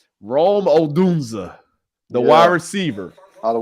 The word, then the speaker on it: Rome Odunze: Rome Odunze. Rome Odunze, the wide receiver out of Washington.